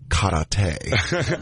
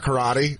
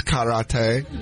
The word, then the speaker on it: karate: It's actually pronounced karate. Like, it's not karate. It's karate.